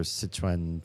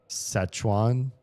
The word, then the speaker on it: Sichuan: Szechuan? Szechuan? Does that sound right? Szechuan? Whatever that. It's the place with 4 rivers, which is why it's called Sichuan. To me, it's hard for me to pronounce it the American way.